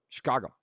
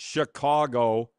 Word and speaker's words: Chicago: We were in Chicago last year, which if you know anybody from Chicago, it's one syllable. Chicago. One syllable. Chicago. It's not Chicago.